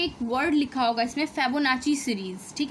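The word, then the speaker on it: Fibonacci: Word लिखा होगा इसमें फेबोनाची सीरीज़। ठीक है, आप प्रोनाउंसिएशन पे मत जाना, फेबोनाची सीरीज़, फेबोनेसी कुछ लोग भी बोलते हैं।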